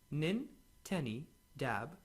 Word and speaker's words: Nintedanib: pulmonary fibrosis or IPF pronounced min Tenny dab this drug was approved